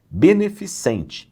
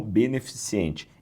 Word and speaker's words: beneficente: Beneficente e não beneficiente.